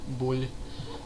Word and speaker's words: Boulle: going to go with bull I thought it was going to be bu a because of the e but I think it's bull I think the E is probably silent but anyway uh what